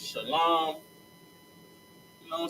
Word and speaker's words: shalom: the air on this shalom. Not shalom. Not shalawan. It's shalom. Shalawan makes absolutely no sense.